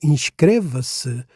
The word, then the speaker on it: inscreva-se: So inrevis remains a peroxyone word with a stress right where it belongs on the penultimate syllable.